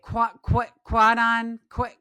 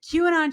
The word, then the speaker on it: QAnon: like I forget how to say it, Quanon shaman. How QAnon.